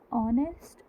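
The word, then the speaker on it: honest: सो ये ऑनेस्ट, honour, are, LPG, MLA, NRI, x ray, Xmas सब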